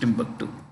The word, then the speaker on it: Timbuktu: called tomu here but it's usually pronounced Timbuktu okay uh Jordan is